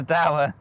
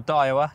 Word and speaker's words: Daiwa: Okay, well that's a Dower logo, or Daiwa, depending on who you are, where you are and how you say it.